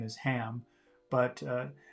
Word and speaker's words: Ham: her nephew's name is ham but uh some people especially in the UK don't pronounce H's very much so instead of saying ham she's saying am am to play with